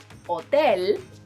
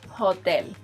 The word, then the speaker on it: hotel: I know it might be tempting to pronounce it as it is in English, but don't. Say hotel instead of hotel.